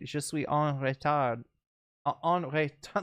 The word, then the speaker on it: en retard: Je suis en retard. En retard. Let me pronounce it correctly. You swallow the D, so en retard.